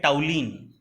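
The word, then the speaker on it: toluene: नाम टॉलिन था पहले, अब ये टॉलुइन लिखा है लेकिन इसको प्रोनाउंस करते हैं टाउलिन, ठीक है, स्पेलिंग सही है लेकिन टाउलिन बोलते हैं।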